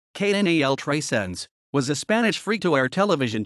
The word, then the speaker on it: Canal 300: canal 300 catalan pronunciation knal tracenz was a spanish free-to-air